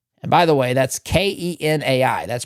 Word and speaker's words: Kenai: And by the way, that's K E N AI. That's pronounced Kenai.